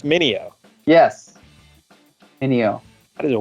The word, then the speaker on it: Meugniot: will uh last name is m-e-u-g-n-i-o-t yeah it's mineo yes ineo that is a wild wild stuff